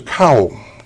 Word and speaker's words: Kao: And in Shintoism it says there's a Kao, K-A-O I believe it's pronounced, Yes.